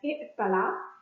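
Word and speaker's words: ائتلى: The past tense form 8 verb is pronounced as i'tala, and the present tense is pronounced as ya'tali, noting that the ya at the end has dropped due to grammatical reasons.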